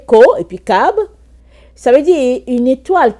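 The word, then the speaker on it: כוכב: Et c'est dit Kokab, et ça se prononce, comme vous voyez, Ko, et puis Kab.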